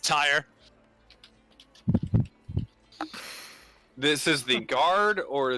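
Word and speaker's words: Tyerr: human named human oh tyr t-y-e-r-r it's pronounced tire this is the guard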